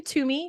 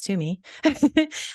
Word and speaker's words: Toomey: my name is Toomey for those that don't know how to pronounce to me I'm the director of